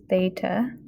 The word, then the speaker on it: theta: Okay, theta is how you say that. It's just from the Greek alphabet.